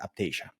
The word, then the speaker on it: Aiptasia: there, and it is, there's different pronunciations about it, but the way I've learned to pronounce it is Aiptasia.